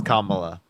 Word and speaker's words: Kamala: Kyle, I promise you it's Kamala.